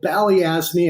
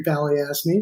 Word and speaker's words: Balyasny: How do you correctly say the last employer that I completely butchered? Yes. It is a firm called Balyasny Asset Management. The founder of that firm is a gentleman named Dmitry Balyasny, who's one of the icons of the hedge fund world.